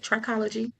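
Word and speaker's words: trichology: You said right. Tririccology or some people may say tririccology.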